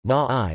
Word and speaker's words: Māori: The Māori, Māori pronunciation, Ma'ai, listen, are the indigenous Polynesian people of New Zealand.